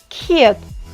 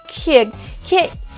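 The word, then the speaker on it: 키읔: sounds k or g if I pronounce this like blowing with a H a new sound will be produced which is Kh’ieuk Kh’ieuk ?what sound it does it sounds a hard k it means if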